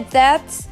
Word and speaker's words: debt: commonly used it's that that be silent and we say that I'm going to pay off my debts so it's that not depth so let's get our